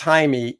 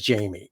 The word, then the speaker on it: Jaime: stupid no name tag he literally says Jaime and she says Jamie and then he says